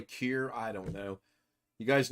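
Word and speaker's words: Kjear: probably one of them odd names that you don't pronounce one of the letters it might be Roy cure I don't know you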